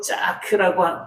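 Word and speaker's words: צָעַק: 10절에 그런데이 사용되어지고 있는이 부르짖다라고 하는이 단어는 히브리어로 짝크라고 발음을 하는데요. 어이 어 우리가 망치질을 하다가 손가락을 확 지었을 때 보통 사람들 반응은 어떻게 나와요?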